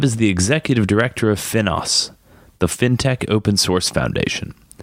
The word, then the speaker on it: FINOS: So, you're the Executive Director of FINOS. Is that how you pronounce it?